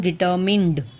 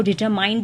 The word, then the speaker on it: determined: Number 4 डिटर्मिन्ड। वापस से बता दूं मैं, first gentle, second persistent, number 3 परसिवियरिंग, number 4 डिटर्मिन्ड, DETERMINED, डिटर्मिन्ड। उसको डिटरमाइंड नहीं बल्कि डिटरमिन्ड प्रोनाउंस करते हैं।